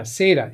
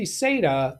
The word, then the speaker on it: SATA: Here We Go Again M data or SATA yeah SATA m.2 SATA that that's I think is the right way to say that it's an m.2 SATA